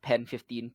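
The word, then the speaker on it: PEN15: And I'll be recommending to Isa a different show on Hulu called Pen 15. It is spelt like penis, but Pen 15, PN15.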